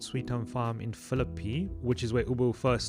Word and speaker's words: Philippi: I said Philippi, and that's wrong. How do you say it, Charlie? Philippi. Philippi. Okay. Apparently, Philippi. by some parts of Cape Town, that's how you say Philippi.